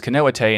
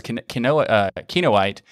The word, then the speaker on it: Kinoite: now for the show i asked him if it was canoa te and he said no it's kinoite and turns out both